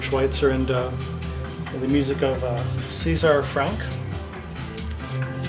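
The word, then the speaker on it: César Franck: Yeah, I would recommend checking out other things he's done, Albert Schweitzer, and the music of Caesar Franck. That's how it's pronounced.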